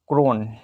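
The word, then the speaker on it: krone: हैं Norwegian Norwegian ठीक है नॉर वेजियन Norwegian क्रोन Norwegian क्रोन कहते हैं नॉर्वेजियन क्रोन क्रोन की स्पेलिंग देखिए के आर एन के आर ओ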